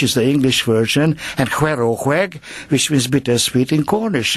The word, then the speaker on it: Hwerow Hweg: I was going to ask you how you actually pronounce it. It's HWEROW HWEG.